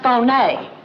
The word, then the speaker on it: Fier: Alexis Fier, pronounced Fon.